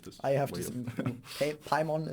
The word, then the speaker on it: Paimon: Paimon is the only right way to say it, and if you don't say Paimon, then you're probably wrong.